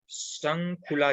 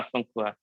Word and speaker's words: शंखुआ: शंखुला जी, सर मैं सही नाम प्रोनाउंस कर रहा हूँ, मेरे को माफ कर दीजिएगा अगर मैं। हाँ सर। शंखुला जी राइट? हाँ शंखुआ।